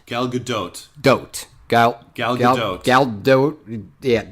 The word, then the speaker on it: Gal Gadot: I already forgot how you're supposed to pronounce her name. Gal Gadot. Gal Gadot.